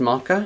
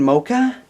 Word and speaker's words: mocha: I was like yes probably pronounced marker and then I was walking around with a friend and I was like I'm gonna get a moco and I see what a marker tastes like cuz I haven't had one yet and she was like what do you mean don't you mean mocha really I mean it's